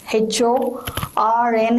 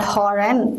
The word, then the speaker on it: horn: Don't tell this word as horn. H-O-R-N is not horn, it's horn. R is silent over there.